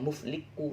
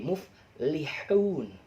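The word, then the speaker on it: مفلحون: Liku, tapi jangan bacanya mufliku, nanti dimarahin sama guru, sama ustaz. Jadi muflihun pakai h ya.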